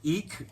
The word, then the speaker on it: Eek: So, that was an artist by the name of Mouse, and that artist's name is Eek, like Eek. I saw a mouse.